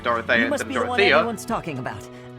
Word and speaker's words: Dorothea: Dorothea is a character I believe they pronounce it dorothia no one's talking about